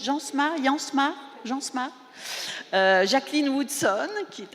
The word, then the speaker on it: Jansma: Donc ce plateau, Une jeunesse tronquée, avec Christopher Jansma, on prononce Jansma, Jacqueline Woodson, qui est à côté, et puis Carla Suarez.